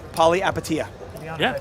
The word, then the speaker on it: Palihapitiya: Chamath's last name pronounced Palihapitiya.